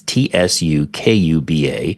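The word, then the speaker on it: Tsukuba: at the University of seuba and I'm sure I'm butchering this pronunciation in ja in Japanese it's TS kuu ba so University of sucuba in Japan have developed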